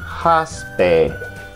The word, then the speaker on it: hospital: Y se pronuncia haspe.